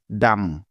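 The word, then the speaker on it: dumb: কিন্তু এম অক্ষরটি আছে তাই নিয়ম অনুযায়ী এখানে বি এর কোন সাউন্ড হবে না অর্থাৎ বি বর্ণটা এখানে সাইলেন্ট থাকবে কারণ এটাই হলো বি এর সাইলেন্ট থাকার প্রথম নিয়ম সুতরাং ডি ইউ এম বি একত্রে মিলে হয়ে যাবে ডাম ডাম ডাম অর্থ হলো বোকা তবে কোনভাবেই এই শব্দটিকে ডাম পড়া যাবে না পড়লে ভুল হবে তাহলে চলো এই নিয়মের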